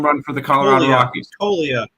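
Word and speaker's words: Toglia: We go to the minor league stadium, Nick, where Michael Toliga Toia Toia will hit a home run for the Colorado Rockies. Tolia with a silent G.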